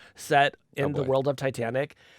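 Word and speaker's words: Titanique: It's pronounced Titanic. It's Titanic.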